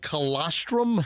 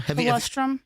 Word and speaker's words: colostrum: That there's something called colostrum. Coloststrum.